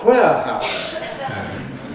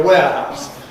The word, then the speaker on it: warehouse: All the phoneticians abuse us very much because she reported a crime which was a breakin at a warehouse. Warehouse of course should be a warehouse but hyper correction again.